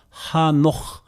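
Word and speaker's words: חנוך: 기독교인이라면은 우리 성경은 에녹 영어에서도 에녹 이렇게 했는데 히브리어 발음은요 하녹 이렇게 됩니다.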